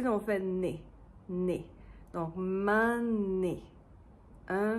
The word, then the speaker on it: m'ment n'nné: And the D becomes an N. So, instead of "donné," "d'nné"... "D'nné" is hard to pronounce. We just say "N'nné." So, "m'ment n'nné." "Un m'ment n'nné."